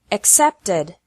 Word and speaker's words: accepted: The past of accept is accepted. Accept has 2 syllables, and accepted has 3 syllables.